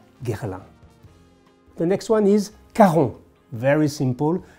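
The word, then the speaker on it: Caron: brand of perfumery gerald the next one is karon very simple karon with the famous puranom for a man which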